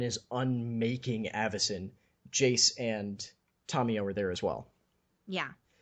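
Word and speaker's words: Tamiyo: It's not that, it's you put full emphasis on every syllable. There's no light syllable in Japanese. Yeah. So you don't have the, like, Tameo, it's Ta.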